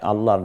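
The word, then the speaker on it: الله: আপনার সন্তুষ্টি হবে, আল্লাহর হৃদয়টা শান্ত হয় আল্লাহর নাম উচ্চারণে। অতএব সেভাবে আল্লাহকে স্মরণ করুন আল্লাহ। তাহলে প্রথমে শব্দটা হতে হবে আল্লাহ। দ্বিতীয় হচ্ছে আল্লাহ শব্দটির মধ্যস্থিত তাসদিদ যুক্ত লাম, যেটা আমরা দেখতে পাচ্ছি কিছুটা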